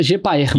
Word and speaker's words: GPAER: Seria a pronúncia certa, GPAER mesmo. Isso.